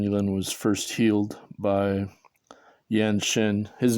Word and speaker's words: Yan Xin: And I started at the Yanshin Qigong Club in 1997 before I met Qigong Master Chen Yilin. And Qigong Master Chen Yilin was first healed by Yan Shin. His name is pronounced Yan Shin.